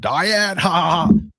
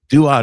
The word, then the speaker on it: duad: You said diet. Duad is a word that people use. It's a Greek word. We even anglicized it as duad in philosophy.